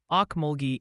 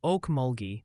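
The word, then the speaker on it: Okmulgee: Oh, and the pronunciation patrol wanted you to know Okulgi is Oak Mulgi with a G like grapes and it's Neveda, Missouri.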